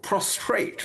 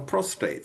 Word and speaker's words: prostate: Even the politicians pronounce it wrong. They call it prostrate rather than prostate.